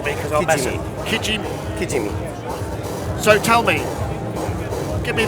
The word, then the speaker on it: Kijimi: Now, can you pronounce this for me? Because I'll mess it. Kijimi.